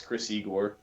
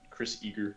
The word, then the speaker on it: Chris Igor: Okay, like the actual name to pronounce this channel is Chris Igor, but somebody said Chris Eager one time and I thought it was fun.